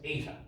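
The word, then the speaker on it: eta: Um, and we call that difference ATA.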